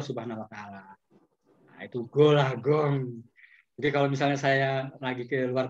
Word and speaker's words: Gol A Gong: Ditulisnya Golagong. Dibacanya Golagong. Apa itu? Kata bapak, gol. Kata emak, gong.